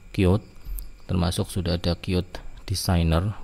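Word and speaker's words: Qt: Ini kit tapi bacanya cute termasuk sudah ada cute desainer.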